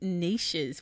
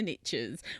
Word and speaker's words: niche: So, big companies, big audiences, but different angles, different niches for those particular big companies. And as the Americans say, the riches are in the niches.